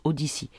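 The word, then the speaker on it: Odysee: Donc c'est Odyssée en français, en francisé, pardon. mais sinon ça se prononce Odyssey.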